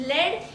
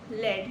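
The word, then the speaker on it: lead: Just remember what is लेड? इट इज़ a heavy grey metal. That's it. Example is old pipes are often made of लेड। Old pipes are often made of लेड नॉट लीड लेड।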